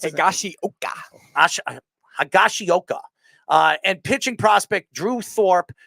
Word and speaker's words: Higashioka: I always, how do you pronounce it? Higashioka.